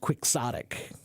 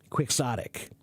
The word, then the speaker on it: quixotic: right but the word in English is pres pronounced quixotic quixotic um and what does quixotic mean it means